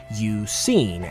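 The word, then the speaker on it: Eusine: similar to Yusin's name, which phonetically is pronounced Yusin, as in, have you seen Suicune, in reference to his searches for the legendary Pokemon.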